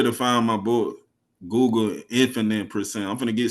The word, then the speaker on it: Infanit: n i t i spell it photically correct infinite the infinite like the eight symbol I mean the eight